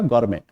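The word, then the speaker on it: gourmet: है गौरमे पता है गौरमे में टी टी का उच्चारण क्या करोगे आप साइलेंट रखोगे तो शब्द का उच्चारण क्या हो गया आपका गौमे और गौरमे का मतलब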